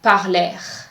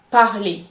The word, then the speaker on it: parler: ER is pronounced E, so the R at the end of the word is silent. Do not say parler. The correct pronunciation is parler, parler.